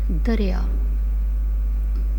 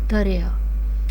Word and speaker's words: دریا: دوسرا لفظ ہے دریا، دریا، دال رے در یہ الف یا، دریا، دال رے در یہ الف یا، دریا.